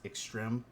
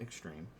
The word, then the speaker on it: Extrême: But it's pronounced extreme, not extreme.